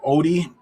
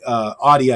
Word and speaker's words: AODI: If DMO does happen to pull up the upset against Team Wii, you're definitely going to want to have Audi, I should say, AODI, I believe it's spelled.